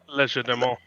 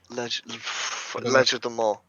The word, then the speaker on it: Legerdemain: Legerdemain. Legerdemain.